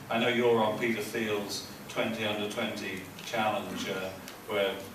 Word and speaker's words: Thiel: So the name is pronounced Thiel, Peter Thiel.